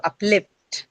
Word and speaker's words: uplift: So uplift right it's going to be on the second syllable itself.